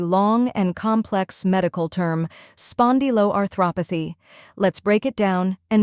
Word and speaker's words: spondyloarthropathy: The correct pronunciation is spondyloarthropathy. Let's break it. First part, spondylo, spon like pond with an S, di like D, and lo like low.